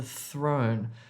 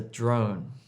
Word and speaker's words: throne: 3,000 spears were thrown at the throne. 3,000 thrown the throne. Don't say 3,000 spears were thrown at the drone.